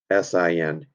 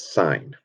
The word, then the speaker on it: sin: right off the bat s i n you're not going to pronounce that sin it is signed all right um cosine